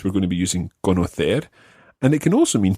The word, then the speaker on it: conocer: All the infinitives always are stressed on that last syllable. So it's saber, conocer.